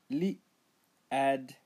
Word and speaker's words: Lied: Lied, sand, lied, sand, pronounce as lied, li ad, li ad, lied.